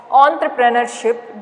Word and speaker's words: entrepreneurship: Okay, this is entrepreneurship. Don't pronounce as a entre. Okay, entrepreneurship. Now let's write the meaning.